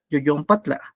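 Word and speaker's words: yoyonpatla: Yoyon patla, así es como se pronuncia.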